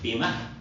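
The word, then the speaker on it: bimah: In Hebrew it's pronounced bima. На еврит се произнася бимах. That her sound is on the end, but it's a very soft sound.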